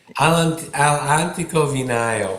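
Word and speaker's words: All'Antico Vinaio: Alantico Vigno, if that is how you say it, you probably know. Alantico Vio.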